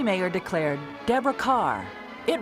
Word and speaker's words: Kerr: k r r right pronounced like car like car like the star well I I was